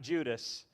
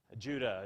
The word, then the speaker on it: Judah: Judah, Judah's an important one, don't we know about Judah? It's the one that creates the tribe of Judah, right? He's an important, not Judas, Judah.